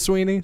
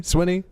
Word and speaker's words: Swinney: he seconds before this segment started how to pronounce this Dabo Davos Davos Sweeney Swinney that's fine that devil Sweeney Dabo Swinney all